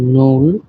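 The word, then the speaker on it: null: এবং টেন কে বলা হয় সেন আপনারা এই উচ্চারণ গুলি সহ দেখবেন আমি আবারো শুরু থেকে বলি শূন্য কে বলা হয় নূল ওয়ান কে বলা হয় আইন্স টু কে বলা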